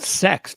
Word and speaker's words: CeX: I think it's pronounced sex too, which is hysterical.